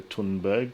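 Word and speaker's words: Thunberg: the gritter puddin Berg I'm gonna color tunberg because I think that's the correct way to pronounce it in Swedish that was not Prince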